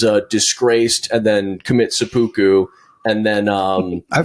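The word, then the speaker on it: seppuku: Sepoku is the one.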